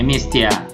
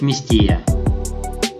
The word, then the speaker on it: Местия: Вместо сванского произношения Местия часто произносят Местия.